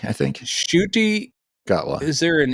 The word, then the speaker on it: Ncuti: guy, and I have to learn how to pronounce his name because I'm not sure how. Yeah. It's like Ncuti, I think. Ncuti.